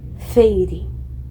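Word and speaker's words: Feyre: Helene pronunciou as 2 sílabas de meu nome. Feire.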